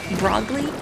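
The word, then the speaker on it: Brogle: And they wrote it, they spelled it phonetically because that's what it sounds like, right? Broggly? B-R-O-G-L-E, and that's how little kids tend to spell stuff, is phonetically, you know, because that's what it sounds like, how it sounds like it should be spelled, and it makes a lot of sense. Like, yeah, of course they would spell it B-R-O-G-L-E, because when people say it, it sounds like they're saying Broggly.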